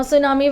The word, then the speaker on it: tsunami: Now tsunami, where the letter T is silent, and it's a Japanese word that means giant wave.